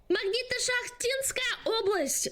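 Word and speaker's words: Magnito-Shakhtinskaya Oblast: horror and I was curious to hear you pronounce the name. It's called Magnita Shachtinskaya Oblast. Magnito-Shachtinskaya Oblast.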